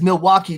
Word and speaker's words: Milwaukee: And real quick, just for Clayton, because Milwaukee does rhyme with hockey.